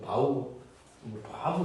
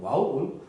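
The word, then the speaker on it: ו: 이제 와우라고 하고 이제 바부 이렇게 발음하는데 바부 와우 우리 옛날 배울 때는 와우로 했습니다.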